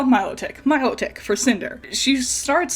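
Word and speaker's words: Milotic: I I called it melodic my entire life. And then I played the game, the new Pokemon Snap game, and they call it Miloick.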